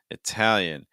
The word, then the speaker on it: Italian: the language Italian Italian that first syllable you can either use a schwa sound uh or a short I sound e and then the second syllable you're gonna get Tau Tau so you're finishing with an a sound almost like a dark a plus dark L Al Tau okay and then